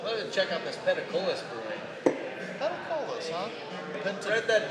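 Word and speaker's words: Peticolas: Let me check out this Petacolis brewing. Petacolis, huh? Write that down. Pentacola? Pentacola. The most often mispronounced brewery in Dallas.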